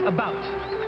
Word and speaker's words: about: president as American and I pronounce it about not a boot I can proudly soul